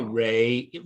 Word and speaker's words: Ra: associated with the god raw uh am i saying raw some people say rey or ra okay but most people say raw okay uh the the